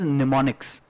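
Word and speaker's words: mnemonics: वाला वर्ड करेंगे सुनाओ इसमें पीस साइलेंट होता है and women's निमोनिक्स soon निमोनिक्स हर पुरुष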